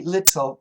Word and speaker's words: little: And what happens is my tongue, the tip of my tongue touches the ridge. You know, right behind the upper teeth, you go up and then there's a bump. My tongue touches that ridge. And it actually sounds like a D. D, little, little, dull, dull, dull, little, little. It's very close to a D sound.